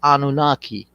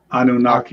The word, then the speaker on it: Anunnaki: Yeah, and the name, it's not a name, it's a sentence, and it's pronounced Hayanunage, and in English they call it Anunnaki. Anunnaki.